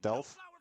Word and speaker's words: Delph: That being said, I think you pronounce the name just Delph, not Delph or something. It's just Delph, and you ignore Okay. the alpha.